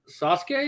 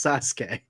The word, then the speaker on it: Sasuke: naratu Naruto how do you how do you pronounce the name is kazai Sasuke you mean yes I really thought I was I knew Danny said it as a joke yes Sasuke no I'm serious I was trying to think